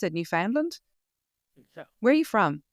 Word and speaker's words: Newfoundland: Newfoundland? So, Where are you from? I'm Massachusetts, which is on the east coast of the U.S. near Newfoundland. We'd say Newfoundland.